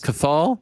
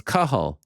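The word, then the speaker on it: Cathal: was gonna say cathol what if it comes back and that's how you actually pronounce cathol yeah no it's kahul kahul kahul pendrit Legend uh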